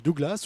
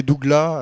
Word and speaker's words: Douglas: reçus je dirais que plus on se rapproche de l'est plus on enlève le s les bourguignons prononce volontiers doug là alors que dans les